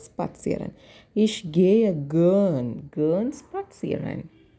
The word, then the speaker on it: spazieren: For walking, it should be pronounced like spazieren.